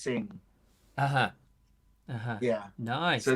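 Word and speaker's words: Singha: It's not pronounced Sing Ha. It's pronounced Sing.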